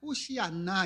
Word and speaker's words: 호산나: 여러분 호산나 많이 들어보셨죠? 호산나 호산나 우리 찬양할 때도 많이 하죠. 호산나가 무슨 뜻인지 아십니까? 엘라로 보면 원래는 호시 안나 이렇게 읽어야 되는데 이제 호산나라고 읽죠.이 의미는요.